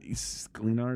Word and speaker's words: Sklenar: Sklenar, is that how you pronounce it?